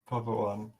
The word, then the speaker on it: Poppt1: Is the one pronounced in the tag ever? Has it ever been pronounced in the tag? People don't just because it's lazy, and then I started to not because I got lazy, but it's definitely is in the name. Okay. Definitely should be pronounced, preferably.